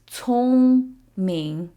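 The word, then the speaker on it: 聪明: So the C sound in Chinese is never pronounced like K. It's always a ts sound, as in the Z in pizza. So it's 聪明, 聪明.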